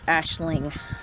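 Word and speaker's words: Aisling: um and yes aaron you were right it's ashling um but yeah so i have to go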